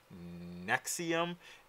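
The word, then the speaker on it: NXIVM: running again s NX IV m and it's pronounced nexium and some of the things that I found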